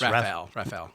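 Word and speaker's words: Raphall: How do you pronounce this? Rafael.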